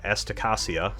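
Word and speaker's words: Asticassia: mercury transfers to the uh estacasia school of technology had to look at that before i was confident in how to pronounce that run by the benerit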